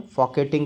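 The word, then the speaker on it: Folketing: फॉकेट ंग ठीक है फॉकेट कहते हैं आप आर होता है आर साइलेंट होता है और डेनमार्क की राजधानी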